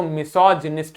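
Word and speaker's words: misogynist: ध्यान दीजिए, जब ये गाइनो जी वर्ड शुरुआत में आएगा तो गायनेकोलॉजी बोलेंगे, और यही जी वर्ड जब बीच में आता है तो मिसोजिनिस्ट बोल देते हैं।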